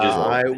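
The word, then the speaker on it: Gisele: Also, I was going to say, I'm pretty sure it's pronounced Giselle.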